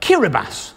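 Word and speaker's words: Kiribati: get fun facts like this from omg facts Keira bass that's how you pronounce it is the only country that falls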